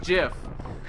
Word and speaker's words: GIF: It's pronounced GIF.